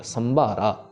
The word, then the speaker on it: संभारा: सस् के ऊपर टिप्पी भी है तो प्रॉपर प्रेशर देना है इस अक्षर के ऊपर। संबारा संबारा नीचे में जो फिर उबारा है वो बबे के साथ है।